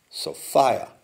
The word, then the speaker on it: Sophia: again, you see, although it's pronounced Sophia, and it rhymes with desire.